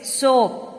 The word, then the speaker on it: soap: The next word is soap. Soap, soap. Here also letter A becomes silent.